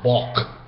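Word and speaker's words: бок: Now, the Mongolian word is actually spelled the same in modern Mongolian Cyrillic, but they leave out the final A. It's kind of a silent A, so to speak. So they say bok.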